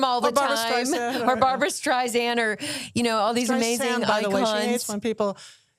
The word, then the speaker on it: Streisand: learn how to say it's like sand on the beach, not Streisand like sand on the beach.